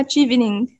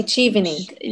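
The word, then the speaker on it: Chevening: المنحة اسمها تشيفينينج، مش achieving، تمام النطق، بس النطق المنحة مش تمام.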